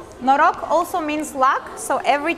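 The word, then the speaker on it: Noroc: way to say hi to you and it's pronounced no rock no rock also means luck so every time we're greeting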